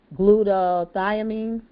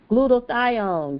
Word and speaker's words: glutathione: So now we've talked about glutathione. How do you say it? I say it right. Glutathione. Glutathione. Glutathione. So just say gluta like gludac say gluda you know gludaion.